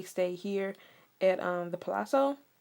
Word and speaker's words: Palazzo: at um the palazzo i pronounced it palazzo some people pronounce it palooza palooz yeah palooza who they pronounce it like something like that i pronounce the palazzo some people pronounce palazzo that's what i'm gonna call it so this is where